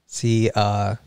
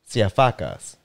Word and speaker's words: Siafakas: So now say each one of them with an ah sound. Siafakas. There you go. That's how you say my name in Greek. Siafakas.